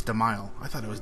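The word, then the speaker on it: Dzemael: learned how to pronounce demile I thought it was desil for a while but I guess the D is silent okay back to it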